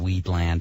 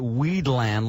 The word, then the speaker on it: Wheatland: W-H-E-A-T-L-A-N-D. Wheatland. Land of wheat. Oh, much different than the way that Sherry put it, Weedland, land of weed.